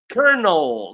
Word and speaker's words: colonel: So the word actually is pronounced colonel. So can you believe that? So the word is written like if I read it exactly the way it is written it should be the second answer B which is colonal or